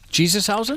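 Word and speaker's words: Jesús: Uh yeah, here's a Jesus. Uh how do you say that Josh? Jesus.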